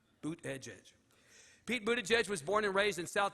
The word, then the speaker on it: Buttigieg: me aside beforehand and taught me to pronounce his name not as it read but a gig but phonetically Dave literally stood there with me and said boot Edge Edge boot Edge Edge Pete Buda judge was